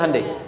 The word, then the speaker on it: Hyundai: Sehingga ketika di sana bikin Honda, sini Hyundai. Hyundai kan dibacanya Hyundai.